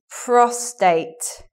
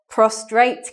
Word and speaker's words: prostate: But people confuse these words a lot because prostrate is a formal word for to lie down or to be lying down. Formal. Whereas prostate is the sort of medical word for male balls, basically. So like a man can get prostate cancer. But many people talk about prostrate cancer. They put the R in there because they're confused.